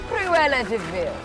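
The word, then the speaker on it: Cruella De Vil: trick it's never a Stella she Cruella it's Cruella Deville oh it's spelled like Devil but it's pronounced theil I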